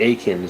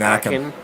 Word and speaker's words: Aiken: Aiken, so like Aiken, no T. Oh, is it Aiken? Okay. Yeah. I think instead of because I was saying Akin.